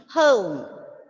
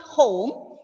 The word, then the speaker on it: home: See, home. I told you how to pronounce the letter O. It's not O, it's not home, it's home.